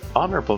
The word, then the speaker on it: honorable: to improve it's an honorable motive but it's just not the right time a honorable I I would I would have said an honorable you usually pronounce the h and anyway moving on